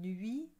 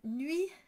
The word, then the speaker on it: nuit: So if you recall, I said most of the time people pronounce nuit wrong. They put an ou sound instead of an u. And so they'll say nuit and not nuit.